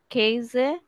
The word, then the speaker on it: Käse: tea, হুম হুম the milk, হুম their Käse, খেজে, Käse, কারণ এটাকে the এ উচ্চারণ করা হয়, উমলাউট যেহেতু আছে।